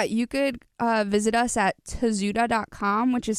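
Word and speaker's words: Tozu: your website yeah you could visit us at a zoo dot-com which is spelled T o z u da also means hard-headed in Spanish and you could find this in Instagram you can find us at to zoo - LLC on Instagram it's a zoo de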